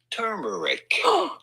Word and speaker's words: turmeric: So how do you go about pronouncing the name of this spice? Simply turmeric.